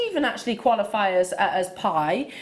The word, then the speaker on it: bi: actually qualify as as pie it's spelt b i if you want to look that up but it's pronounced pie and i'll tell you